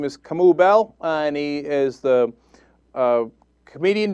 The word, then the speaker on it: Kamau: Well, first of all, it's pronounced Kamau, so you've already been a little bit racist already.